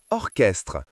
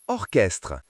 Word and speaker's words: orchestre: Les lettres ch ensemble font parfois le son que dans certains mots comme orchestre, chronomètre, technologie. Que comme dans orchestre, lisons ensemble. Que orchestre ? Que comme dans chronomètre. Lisons ensemble que chronomètre.